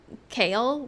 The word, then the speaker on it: Kale: explain to people that it's pronounced like kale, like the vegetable.